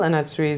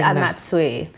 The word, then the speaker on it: Anatsui: on, yeah, if you're the typical average Ghanaian person and you're pronouncing it in the Ghanaian way, it's Anatsui, you know. But for the rest of humanity, it's Anatsui. It's Anatsui. Pronounced just as it's spelled, but the right pronunciation is Anatsui.